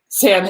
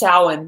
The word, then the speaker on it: Samhain: Samhain a pagan festival Sam really am i saying it wrong yeah it's Xiaolin that's how you pronounce it I like seeing here